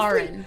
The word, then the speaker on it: Karen: So honestly, Karen. That's considering probably the way it's supposed to be pronounced. that probably is. It's a sharp, deep A.